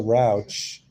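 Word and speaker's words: Rauch: But I really respect Melissa Rouch.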